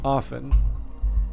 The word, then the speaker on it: often: strong and brown uh record a pronunciation without te which despite its use in the 16th century by Elizabeth I seems to have been avoided by careful speakers in the 17th century which I take to mean that Elizabeth the first was uh unique in her time in saying often and that's good enough